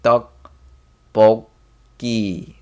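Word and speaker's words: 떡볶이: not dog, but it's more like duck, boki.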